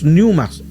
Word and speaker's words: pneuma: Las huestes son los pneumas, que se escribe una P y después pneuma, una P adelante, una P de papá, P, y después pneuma.